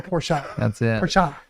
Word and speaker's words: Porsche: the whole day arguing is it porsche or poor shot two syllables yeah is it two syllables is that the german way to pronounce it got it jeffrey thank